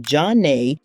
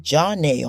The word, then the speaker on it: Zhané: Jean and Renee became Zhané, flipping the script with the French pronunciation and a jazzy Z for flavor.